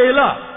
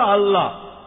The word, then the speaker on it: আল্লাহ: ভাবে উচ্চারণ করলে আমরা বলব আল্লাহ তারা বলে এলাহ সমস্যা নেই তবে সঠিক উচ্চারণ হলো আল্লাহ পরে যখন রেফারেল স্কোর বুঝতে পারলেন যে তিনি